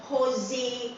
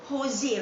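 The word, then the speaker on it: José: actually your wrong pronunciation, sebab tak boleh sebut Jose, kena sebut Jose Rizal, mas silent J ni.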